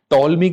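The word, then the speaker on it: Ptolemy: टॉलमी की जो geography है, ठीक है, टॉलमी की, पी साइलेंट है इसमें, टॉलमी की जो ज्योग्राफी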